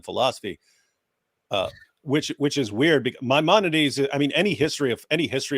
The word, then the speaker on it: Maimonides: I go, okay, so Maimonides. He goes, oh, I pronounced it wrong, and I was like, I thought he had a background in philosophy.